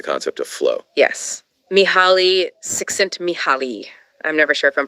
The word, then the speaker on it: Csikszentmihalyi: Mihaly Csikszentmihalyi. I'm never sure if I'm pronouncing that right.